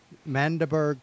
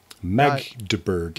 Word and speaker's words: Magdeburg: Mandeberg Train? Magdeburg. Magdeburg. I always say it wrong.